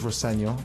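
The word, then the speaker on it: Rosenior: My dad says Roseno, which is it is the way to pronounce it, but as long as it's nice.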